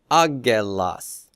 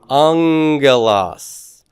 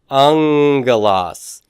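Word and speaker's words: ἄγγελος: this as a AAS aelas but how do you pronounce that angas angas now this this uh first gamma then sounds nasally doesn't it it sounds like an N it's not purely an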